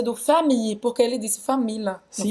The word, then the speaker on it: famille: não falou a pronúncia do famille, porque ele disse família, não foi? Famille, como se fosse um i longo.